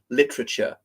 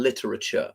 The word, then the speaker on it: literature: that's more General Britannic for instance literature rather than literature Americans would pronounce that e in the middle other um any other